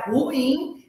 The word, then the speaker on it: ruim: por emoções fortes então o correto é ruim é uma oxítona e e a sílaba tônica é o in Então não é ruim